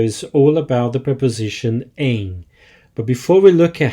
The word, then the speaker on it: em: all about the preposition aim but before we look at how and when to use this preposition an important note on pronunciation it's pronounced Ain so very nasal sound there not M with that out of